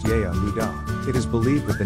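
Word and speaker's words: יהודה: In the Aramaic language, the name Judah is spelt Yehudah and is pronounced Yehudah.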